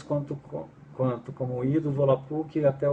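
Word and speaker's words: Volapük: exemplo a própria palavra volapuk né volapuk na pronúncia correta do volapuk eh ela quer dizer fala Mundial né Eh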